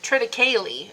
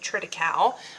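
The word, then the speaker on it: triticale: Anyway, so we've got corn and then trite, I've been told, is how it's meant to be pronounced. I've always been pronouncing it triteau, but I guess I'm wrong.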